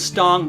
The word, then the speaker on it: Stong: Our family name is Stong, not strong. It's a name that begs you to say it wrong.